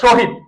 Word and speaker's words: শহীদ: স হবে তালব হবে যেমন লক্ষ কর শহীদ এটা কি বল শহীদ তাহলে শহীদের তালব দিলাম এরপরে বলতো পরের বর্ণের